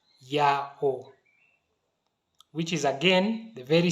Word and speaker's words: Yahweh: fragment it is rendered Yahweh. What this means, ladies and gentlemen, in summary, is that Yahweh must be the pronunciation that the ancient Israelites used to refer to our Creator.